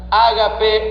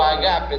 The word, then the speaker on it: ágape: amor que es la palabra ágape o agape Según como la quisiéramos pronunciar Sí en la gramática este gramática española no estamos obligados a pronunciar correctamente las palabras extranjeras sí las de nuestro idioma pero no palabras extranjeras Así es que agape o ágape como sea pero la palabra ágape